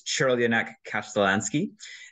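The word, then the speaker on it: Crljenak Kaštelanski: If you're looking at the write-up, yes, that's how that's pronounced. And yes, I looked it up because I don't speak Croatian, but it's Chirlionak Kasztelanski.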